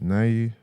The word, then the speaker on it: Naoya: Naoya. Yeah, Inoue. What's that? Naoya.